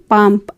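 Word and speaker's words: palm: है ताड़ का पेड़ पी ए एल एम पाम एल यहां पर साइलेंट रहेगा पाम पाम मीस ताड़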